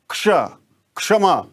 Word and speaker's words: क्षमा: प्राय इसको लोग छ बोल देते हैं। इस वाले का उच्चारण कर देते हैं। इसका शुद्ध उच्चारण क्या होगा? इसको हम लोग सुने। क्षमा शिक्ष तो इस तरह से क्ष को उच्चारित करेंगे हम और इसी तरह से